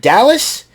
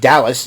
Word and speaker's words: Dalys: And Ava was busy chatting with Dallas, Dalys. That's how it's pronounced. That's how it's pronounced, Dallas.